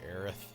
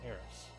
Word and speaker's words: Aerith: it is spelled that way in the original game, but it's supposed to be Aerith, not Eris.